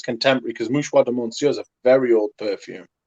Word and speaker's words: Mouchoir de Monsieur: So I ordered a bottle of each, a Pré Leonde and Mouchier. How do you say? Mouchoir de Monsieur. There you go.